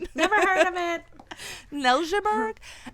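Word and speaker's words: Neltje: Nelburgg. And the way they say like that is because it's spelled like with an N E L T J E. So it's Danish origins with that name.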